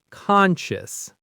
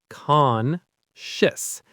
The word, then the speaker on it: conscious: Conscious. The stress is on the first syllable. Conscious. So the ending is a quick shis sound.